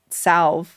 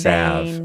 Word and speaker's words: salve: There's this whole idea that that witches would use this salve that they would create from like henbane. Salve, actually. You don't pronounce the L like a maniac. Well, I did. So get over it. Salve.